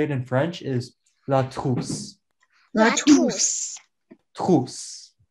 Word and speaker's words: trousse: So, how you say it in French is la trousse. La La trousse. Trousse. Tousse. La trousse. We all said tousse. You said you, I think you guys are saying tousse.